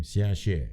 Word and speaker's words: Xiaxue: To be fair, I read what Xiaxue, is that how I pronounce her name? Xiaxue, yes.